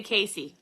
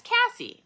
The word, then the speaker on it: Cassie: Oh, they say Casey. Oh yeah, it's Cassie. It's a double S.